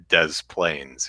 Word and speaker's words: Des Plaines: can watch Brian says there's a city here called des plaines which is obviously a French name bose pronounced des plaines yeah there's a one